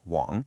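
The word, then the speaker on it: 网: That top section is the character Wong, pronounced Wong.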